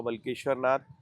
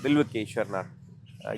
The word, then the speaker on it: बिल्वेश्वर नाथ: बाबा बलकेश्वर नाथ बिलकेश्वर बिल्वेश्वर बिल्वेश्वर नाथ ये proper pronunciation इसका है।